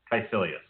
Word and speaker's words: Caecilius: What are you trying to pronounce? Mads Mikkelsen's character, the bad guy. Caecilius.